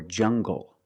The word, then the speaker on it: jungle: When we have an L after it, when you have an L after it, it makes the G sound like English. Make the hard G. English or jungle. Tangle and angle. These are pronounced with the hard G sound.